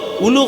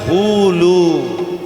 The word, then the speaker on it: হুলু: ঠিক তদ্রূপ উলু হবে না, উচ্চারণটা হবে হুলু।